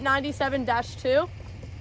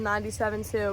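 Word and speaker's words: SVL97-2: do you pronounce it 97-2 yeah okay guys so I said it was the Kabota svl 972 but it's actually the cabota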